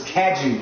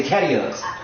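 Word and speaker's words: Cadieux: It's spelled almost, but it's Caju, right? That's how you say it. But people say Cadiux. y'all probably say But it ends with that same suffix UX. of that dude. Yeah. No, the whole end of it is that dude, but it's people like Cadiux. And it's Caju.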